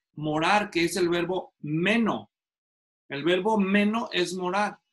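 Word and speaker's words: μένω: Ahora, ustedes han de saber que en el idioma original el verbo morar es el verbo meno, así se pronuncia, les muestro.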